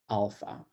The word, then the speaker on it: alpha: how it's pronounced so it's pronounced like ah as in father so you pronounce the word alpha alpha okay um the next